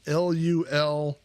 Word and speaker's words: Louisville: recently told me that I'm pronouncing Louisville wrong, and that it is basically Lulvil.